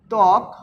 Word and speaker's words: ত্বক: সাথে ব সংযুক্ত রয়েছে এখানেও কিন্তু বটা উচ্চারিত হচ্ছে না কারণ শব্দের আদ্যে বফলা